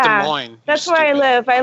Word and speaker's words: Des Moines: It's pronounced Des Moines. That's where I live. I live with my parents. Gotcha. It's pronounced Des Moines. Not Des Moines.